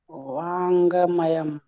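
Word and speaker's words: वाङ्मयम्: अंगा है, अंगा आधा है तो मयम। वाङ्मयम। अंगा पूरा हलंत के साथ है, उसमें पूरा उच्चारण नहीं करना है।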